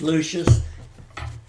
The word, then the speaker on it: Lucius: Because you're luscious like that, huh? That was what, when I went to school, that's all I heard. Because my name was Lucius. Everybody said luscious. They didn't know how to pronounce it.